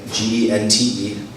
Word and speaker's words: gente: In Portuguese, it's spelled the same way, G-E-N-T-E, but it's pronounced gente.